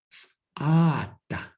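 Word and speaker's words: tsʼáadah: Ts'ada, just 2 syllables.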